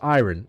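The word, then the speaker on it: ayran: It's pronounced iron.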